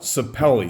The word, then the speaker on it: sapele: What this is called, and people pronounce it different ways, okay? It is called Pomelle Sapele.